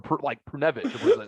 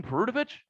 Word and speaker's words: Perunovich: I went, you mean Perunovich? And they're like, that's not how you say his name.